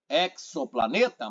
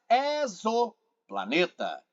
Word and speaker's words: exoplaneta: Eu costumo ouvir exoplaneta, mas é exoplaneta.